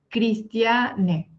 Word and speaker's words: Cristiane: Cristiane. Y se dice así, ¿no? En español dicen que los nombres en español se deben pronunciar de la manera como se escribe. Pero bueno, como es en portugués, Cristiane. Bueno, un nombre espectacular, a